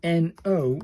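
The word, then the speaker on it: の: Pronounced like the N O in nose. It's just a no in it.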